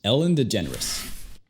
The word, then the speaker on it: DeGeneres: Su apellido es bastante raro y suena más como si fuera la palabra generous, generoso en inglés. La G no es como en español. Es J. A veces es igual que la J. J. Generous. La parte del final se ve difícil, pero es simple. Solamente di Rus, como en las palabras pretentious, fabulous, delicious. Ellen DeGeneres.